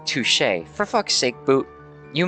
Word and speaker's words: touché: Touché. Or touchy. I don't know. No, there wasn't. No, that was touchy. I assumed he was going to say touché. I think it's pronounced touché.